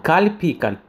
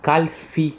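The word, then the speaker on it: קלפי: Слово кальпи, кальпиот, избирательный пункт, некоторые называют его кальфи с буквой фей. Хотя в правильном произношении это с буквой «пей», но это не имеет значения.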